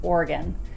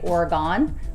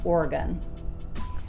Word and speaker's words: Oregon: the state and say Oregon because of the O at the end, but it's correctly pronounced more with a U sound, Oregon.